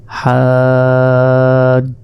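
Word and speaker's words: حجة: দুই নক্তা বাদ যাবে এখানে আমরা হা হিসেবে উচ্চারণ করবো অর্থাৎ হাজ্জাতুন রয়েছে এখানে আমাদের বলতে হবে ওয়াকফ যদি করি তাহলে আমাদের বলতে হবে হাজ্জাহ আর শেষে এই দুই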